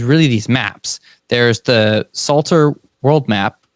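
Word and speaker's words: Psalter: these Maps there's the Salter world map it's spelled with a p Salter the Suter world map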